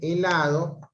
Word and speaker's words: helado: En el caso aquí de helado, la H no hace sonido consonántico, a pesar que pueda